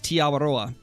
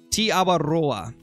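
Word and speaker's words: Aotearoa: That's how it's pronounced, is Tiawaroa. And it's not really an accent, it's just rolling the R. Tiawaroa.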